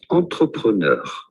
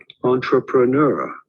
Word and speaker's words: entrepreneur: In French, this is normally said entrepreneur. Entrepreneur, but in English or American, it is usually pronounced as entrepreneur. Entrepreneur, from French, entrepreneur.